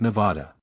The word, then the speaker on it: Nevada: "Nope, and I pronounce it Nevada.